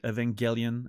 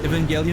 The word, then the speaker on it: Evangelion: I want to rewatch Evangel Evangelion at some point. I'm I'm not going to get used to that hard G makes no sense.